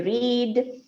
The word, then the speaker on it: read: ඒ කියන්නේ present එක තමයි read, past එක read, past participle එකක් read. Read කියන්නේ ඒක නිකන් RED විදියට තමයි pronounce වෙන්නේ. හැබැයි ඇත්තටම අපි ලියන්නේ READ, right?